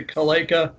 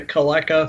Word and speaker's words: Caleca: correctly vaca like oh it's like Kalika yeah well then maybe I pronounced it wrong the first time then right the second time I'll pronounce a multiple ways you know the odd thing about our family is that like different wings pronounced in different ways my dad always pronounced a Kalika my my uncle always pronounced a Calaca so you know just